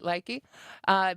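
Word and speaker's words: Lykke: And I've talked about this brand before here on Moogly, Likey, which I think is finally how I've got it pronounced right, Likey.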